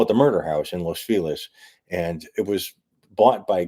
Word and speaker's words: Los Feliz: Has the Los Feliz property sold? I don't think so. We're talking about the murder house in Los Feliz, which, if you pronounce it properly, be Los Feliz, but it isn't ever pronounced properly.